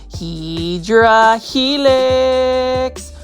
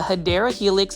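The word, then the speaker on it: Hedera helix: say look at this HRA helix or what you call the hadera Helix English IV that's the correct way to say $4.98 but what I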